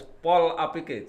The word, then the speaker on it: Polapike: Jadi bacanya harus Pol APK. Jadi digandeng.